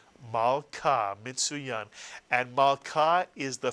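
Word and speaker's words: מַלְכָּה: Can you read the first syllable? If you said mal, you're correct again. Mal. The shva under the lamed is silent. Tells you to add the lamed to the preceding letter and vowel. Mal. And the second syllable? Ka. Mitsuyan. And you put these two syllables together, you get the word Malka, Mitsuyan.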